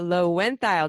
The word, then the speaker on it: Loewentheil: episode time and I just learned the proper pronunciation of Cara's name Cara low went dial did I do it did I do it